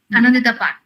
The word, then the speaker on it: Anandita Pan: Is it Anandita Pan or Anandita Pan? Yes, Anandita Pan, yes.